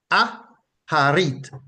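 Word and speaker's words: אחרית: The root word from which those words are derived is transliterated from the Hebrew to English as Achariy, and it is pronounced Aharit, Aharit, Aharit.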